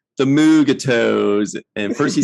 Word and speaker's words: Mugato: have to sound it out and say no mugato yeah it's not not an everyday word so